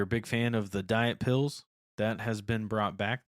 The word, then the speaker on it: Diat Pills: They said you pronounce it like Diet Pills, which is a German style lager.